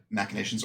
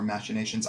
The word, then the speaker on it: machinations: But foist, actually, it also occurs to me that machinations or machinations, I've heard it pronounced both ways by very educated people.